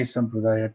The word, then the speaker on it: sampradaya: So I think in large measure, this course is an opportunity to decondition ourselves from such fixation that in order for my sampradaya to be true, I have to negate and invalidate other sampradayas.